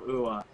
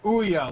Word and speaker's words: Ouya: be the size of oua it's not going to be the size of aoku oh yeah Dam it what how is it pronounced it's Ouya like booya out the be okay